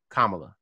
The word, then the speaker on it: Kamala: get a name right yeah say her name kamala kamala harris i'm sorry i'm sorry i apologize